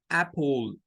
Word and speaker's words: apple: una sola ay ay Entonces lo correcto para pronunciar esto es Apple Apple si yo uso solo la a del